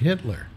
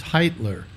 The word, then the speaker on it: Hitler: And we found somebody in Philadelphia named Hitler. And I called him on the show. Yeah. And I said, hello, Mr. Hitler? And he said, it's pronounced Heitler. And I went, yeah, but it looks like Hitler, right?